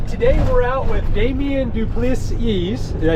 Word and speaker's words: du Plessis: All right, today we're out with Damien du Plessis.